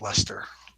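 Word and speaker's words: Leicester: that's how they say that's how they pronounce that in England as Lester and then this would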